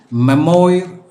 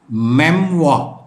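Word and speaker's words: memoir: എം ഒ ഐ ആർ മെമ്മോയിർ എന്ന് വായിക്കാനുള്ള സാധ്യതയുണ്ട് ഓർമ്മക്കുറിപ്പുകൾ അതിന്റെ ഇംഗ്ലീഷ് വേർഡ് അതിന്റെ പ്രൊനൗൺസിയേഷൻ ഈസ് മെംവ മെംവ സാലഡിനും മറ്റും ഉപയോഗിക്കുന്ന ഒരു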